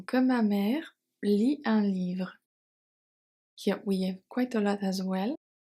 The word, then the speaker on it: livre: ma mère lit un livre pendant pendant assignment que assignment Ma mère Maère est silent. Lis un livre. Lis un livre. Le T is silent and E at livre silent as well.